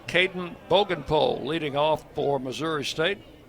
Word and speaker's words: Bogenpohl: Spell his last name spelled b o g e n p o h l, pronounced Bogenpohl. 6'6" 245.